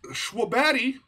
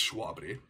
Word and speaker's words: Shwabadi: yeah again this is schwabadi it's it's schwabity i really want to